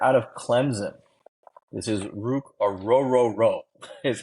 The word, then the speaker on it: Ruke Orhorhoro: This is Ruke Orhorhoro is how you pronounce his name.